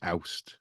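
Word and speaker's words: Awst: What's the Welsh word for August? Did I say it right? It's oust, Oust. oust. Sorry, Yeah, yeah, oust. yeah. I gave it an extra vowel.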